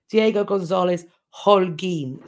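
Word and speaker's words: Diego González Holguín: Aurora points out that that's actually pronounced Diego Gonzalez Holguin.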